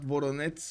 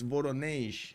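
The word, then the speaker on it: Воронеж: It pronounces something like Voronezh. Not Voronezh, it's Voronezh.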